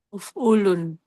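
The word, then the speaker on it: اُفْعُلْ: Harus bacanya persis jangan ganti-ganti kok ufun. Kok salah salah lihat uul ujung lidah mati. Uf'ul. Uful. Nggih. Eh, kok ujung lidah mati? Ujung lidah ada di langit-langit dan di sukun.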